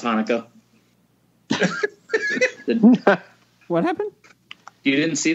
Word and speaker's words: Hanukkah: and he pronounces Hanukkah Chinooka.